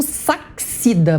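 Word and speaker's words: Sachsida: Adolfo Sachida, mas vocês me perdoam porque se escreve S-A-C-H-S-I-D-A.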